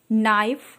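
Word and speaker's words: knife: इसको प्रोनंसिएशन करते हैं अब के के नाइफ नो नॉलेज इन सभी में हमारा के साउंड साइलेंट है नकल केवल हम एन के साउंड से इसको प्रंट करें नाइफ में चाकू नो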